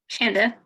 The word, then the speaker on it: Shanda: Is it Shanda? Shanda, Chandra? rhymes with panda.